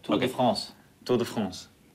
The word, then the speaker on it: Tour de France: No, you have to say it right. Tour of the France. Tour of the French. Tour of the France. That means like the Tour of the French riders, but Tour de France.